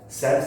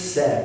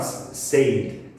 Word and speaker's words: said: Said is the past tense of the verb say, okay, and the pronunciation is said, not saved, said.